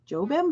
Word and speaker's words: Jobim: We have the Getz Gilberto duo featuring Antonio Carlos, I believe it's pronounced Jobim, but correct me if I'm wrong, for $29.99.